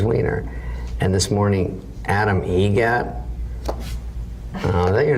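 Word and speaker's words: Eget: How do you say the name? Adam Egret. Egret. Spelt differently. Like the bird.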